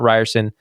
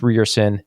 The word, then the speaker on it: Ryerson: I think we got the correction that it's not Ryerson, it's Ryerson, unless you just want to be American about it.